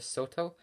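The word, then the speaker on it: Shoto: shorter blade ones I think it's called a Soto that's how you pronounce it it's a shorter blade but of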